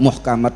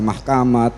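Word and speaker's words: محكمات: Muhkamat dibaca mahkamat, mutasyabihat dibaca matasyabihat ya.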